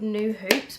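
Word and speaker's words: Nue Hoops: and there was a company there called New Hoops, which is spelt like N-U-E Hoops.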